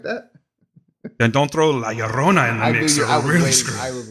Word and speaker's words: La Llorona: What, La Llorona?